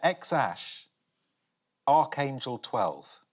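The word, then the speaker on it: X Æ A-12: Anyone want to have a stab at how to pronounce that? Is it X-A12? Yeah, X-Ash, Archangel 12, Musk.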